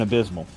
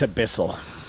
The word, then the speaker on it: abyssal: Druidic, Draconic, Common, and Abysmal. It's abyssal. I know. It just annoys you guys every time I say it wrong, so I stuck It to does.